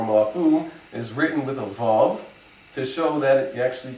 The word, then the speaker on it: Vav: to pronounce a proper Vav, not like a V. So Vav is a W sound, and that's why the Shuruk is written with a Vav.